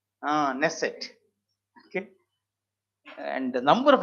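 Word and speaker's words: Knesset: we discussed right now we start with k but k is silent ah nesset okay and the number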